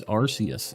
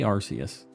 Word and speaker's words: Arceus: doing on accidents um it's Arceus I say Arceus a lot of people say Arceus uh I can't say that Japanese is spelled aruse so I don't know you